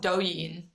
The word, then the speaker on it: Douyin: Margot's thesis when she was in college was all about the differences between TikTok US and you can pronounce it for me? It was called Douyin, Douyin, which is like the TikTok.